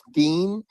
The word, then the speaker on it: Stein: So yeah, all you gotta say is the name is Stein, right? It's pronounced Steen, but that's all you gotta say.